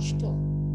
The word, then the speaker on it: Stuhl: Ada juga ST di awal kata dibacanya SH seperti mendesis. Contohnya Der Stuhl.